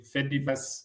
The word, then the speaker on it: Fediverse: f e d i v e r s e the Fedi Okay, maybe to make it simpler. Yeah. Fediverse. Yeah, like a universe, but Like a metaverse, but Fediverse.